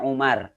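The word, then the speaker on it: عمر: di dalam bahasa Arab kalau di akhirnya ada Wow ini dibacanya Amr kalau enggak ada Wow dibacanya Umar di Amrin Amerika kalau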